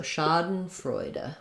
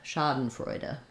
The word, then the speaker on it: schadenfreude: the ah vowel um first syllable stress so it sounds like Shah um uh for that second syllable schaden and then Frey is the like the Noisy Boy vowel so I'll rewrite it with o y Frey and then d e says duh so schaden freuda schaden freuda um yeah